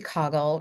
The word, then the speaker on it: Caughell: Please welcome Caughell, rhymes with goggle, to the podcast.